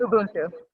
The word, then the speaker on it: Ubuntu: Are we pronouncing it right? Ubuntu. Ubuntu.